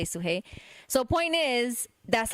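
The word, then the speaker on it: Sudhey: So it's technically like suhei, but I've never pronounced the d. I always just say suhei.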